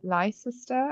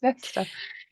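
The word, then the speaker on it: Leicester: And yeah, I always I think I always said L sister until my um fiance was like it's not L sister, it's Lester.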